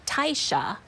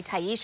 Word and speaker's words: Taisha: my family is Jamaican so they pronounced it Tysha Taisha Tysha Taisha instead of Taisha so I go by Taisha because I figured three syllables would be easier for people to get okay I get to